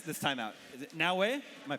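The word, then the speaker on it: Naoe: Is it Naue? Am I pronouncing that correctly? Yep, Naue.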